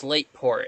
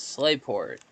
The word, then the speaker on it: Slateport: It's Slateport and I've just always pronounced it wrong.